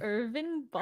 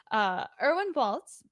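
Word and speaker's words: Erwin Bälz: I guess how would you pronounce it with Irvin? Irvin. Irvin Baltz. Irvin. That's not German. My German That was attempt. very good. Erwin Baltz.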